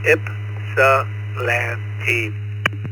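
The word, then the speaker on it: Ypsilanti: Correct me if I'm wrong, but it's pronounced Salante Michigan. Please come out. Well, good evening everybody. This is WB8F and I am in a little town pronounced Ipsalante. The Y is silent. Ipsalanti.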